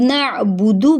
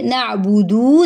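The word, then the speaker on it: نعبد: आगे नअबुदु, अब नअबुदु पढ़ेंगे, नअबुदु नहीं पढ़ेंगे। दू अगर हमने कर दिया तो वो हमने एक हर्फ की एडिशन कर दी, तो जिसकी वजह से किसी हर्फ को बढ़ा देना भी लहने जली यानी हराम गलती में आता है।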